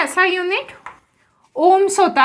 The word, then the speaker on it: ओम: किस नाम से जानेंगे, ओम। और ये किसका यूनिट है, रेजिस्टेंस का। तो इसे हम प्रोनाउंस कैसे करेंगे, ओम।